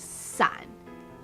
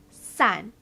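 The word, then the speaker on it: 伞: of your life umbrella umbrella in mandarin is sun which sounds like the word for scatter san giving umbrellas as a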